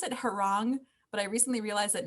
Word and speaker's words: Heron: I pronounce it Heron, but I recently realized that no one knows that I pronounce it Heron.